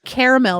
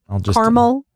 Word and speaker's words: caramel: say it at all or caramel is really hard too caramel or caramel it's caramel I say I think I say like caramel corn well if you're caramel corn yeah but you know look at how it's spelled caramel no it's not caramel caramel caramel anyway what were you